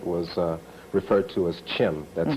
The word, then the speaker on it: Chem: province of Kemet was uh referred to as Chim that's spelled c-h-e-m okay why don't we take a